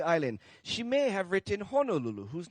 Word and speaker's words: Honolulu: the pronunciation of Honolulu so if you do hear anybody say Honolulu it's kind of hard especially if they're kpuna to tell them hey I'm sorry kpuna you're wrong it's Honolulu uh that's kind of